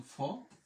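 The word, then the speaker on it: faux: এরপরে ইক্স এর উচ্চারণ আমাদের নাই, তাহলে এফ এর জন্য আমরা নিলাম ফ, এবং আ ইউ এর জন্য আমরা নিলাম ওকার, ফো।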